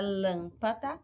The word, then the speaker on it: lâmpada: Na palavra lâmpada, eu vou ter uma proparoxítona, porque a antepenúltima sílaba que é tônica.